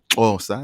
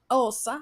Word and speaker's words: Xhosa: So let's start in Southern Africa with the Xhosa language. Xhosa, it's how it's pronounced. Xhosa. Osa.